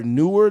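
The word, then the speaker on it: Knew: to shout them out it's an artist named new it's spelled KN NE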